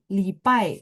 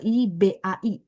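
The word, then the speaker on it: 礼拜: Eh, lipai. Jadi lipai itu pronunciation yang benarnya gini ya. Libai. Bacanya P, tulisnya B ya.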